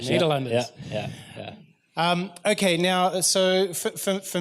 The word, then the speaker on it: Nederlanders: Nederlanders. Nederlanders.